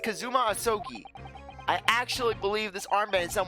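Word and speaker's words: Kazuma Asogi: it's my best friend's name not mine it's pronounced kazuma osoki i actually believe this armband in some way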